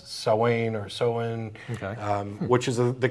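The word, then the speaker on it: Samhain: America a lot of folks call it Sam Sam ha but that's actually the wrong pronunciation it's SA or soen okay um which is the Celtic word for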